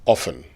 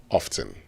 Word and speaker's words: often: It's often, not often. See, and those who say